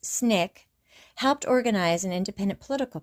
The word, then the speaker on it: SNCC: Ironically, the Civil Rights Insurgency in Loun County, Alabama, where the student nonviolent coordinating committee or SNCC, pronounced SNIK, helped organize an independent political party, was nicknamed the Black Panther Party, and provided the BPP with its name and symbol.